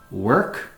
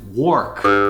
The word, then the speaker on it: work: They pronounce it work because it's spelled work, but it's pronounced work with an E sound.